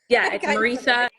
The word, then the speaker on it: Marisa: Yeah, I it's kind of said it Marisa.